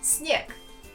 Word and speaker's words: снег: For example, the noun снег. That means snow. Notice how I pronounce the last sound. G. I pronounce it as K.